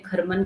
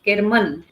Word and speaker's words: केरमन: आर एम ए केरमन शायद मैंने schedule में खरमन करके डाला है तो आईम सो सॉरी तो वो ग्रुप वहां पर 9 बजे केरमन जैसा स्पेलिंग है वैसा ही मैं प्रोनाउंस करूंगी बेटर क्योंकि आपके स किताब